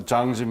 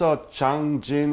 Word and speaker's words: Changjin: So now we're talking about the Changjun Battle. Mm-hmm. Are you aware that it's Changjin in Korean pronunciation?